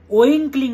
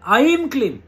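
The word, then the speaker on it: ঐং ক্লীং: ওইং ক্লিং নয়, হ্যাঁ, আইম ক্লিম। বারবার আপনাদেরকে বলি, তবু আপনারা ভুল উচ্চারণ করেন। ওম আইম ক্লিম সোমায় নমঃ, শুদ্ধ সংস্কৃত উচ্চারণ এটা।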